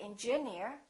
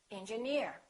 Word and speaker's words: engineer: right here's another rule if the word ends with e e r we stress the suffix for example Pioneer volunteer engineer we don't say engineer we say engineer another rule if the